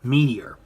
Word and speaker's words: Meteor: So you have Ultraman Belial Pedanium Zeton's finisher attack, the Pedanium Meteor. Yeah, they pronounce it as Meteo because that's how they pronounce meteor.